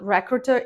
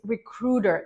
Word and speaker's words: recruiter: are mispronouncing it recruiter recruiter not recruiter it's recruiter the stress is on the rud part recruiter now also be